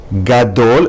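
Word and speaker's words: גָּדוֹל: Next, gimel at the beginning of a word, gadol requires a dagesh in gimel.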